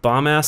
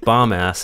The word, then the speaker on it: Bombas: And you get 20% off of some fucking bomb-ass socks. Dedeker keeps pronouncing it bomb-ass instead of bombas.